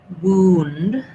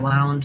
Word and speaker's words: wound: So a wound, an injury, right, is pronounced like with vowel oo and an ND sound. So that sounds like wound. And then we also have another word, wound, like I wound the clock, or he's very wound up, which is pronounced like with this OU being an ow, same sound we talked about in an earlier word, that diphthong ow.